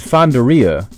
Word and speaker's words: Fandaria: to the voice acting they pronounce it fonderia I'm wondering if fandaria is actually supposed to